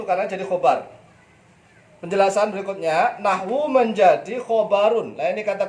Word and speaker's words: نحو: Kenapa nahwu itu enggak boleh ditanwin? Nahwun gitu enggak ya. Walaupun gundul, antum kan bacanya nahwu. Lah, kenapa enggak ditanwin?